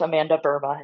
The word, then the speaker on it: Amanda Burma: That's correct, Amanda Burma. It's actually a Dutch name, has nothing to do with the country Myanmar.